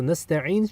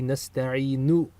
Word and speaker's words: نستعين: So nasta'in should actually be nasta'inu with a dhamma on the end if you pronounce the entire verb. But since we're stopping, we stop with the sukun in recitation.